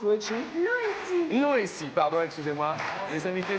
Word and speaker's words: Luigi: Comment on prononce Luigi? Luigi.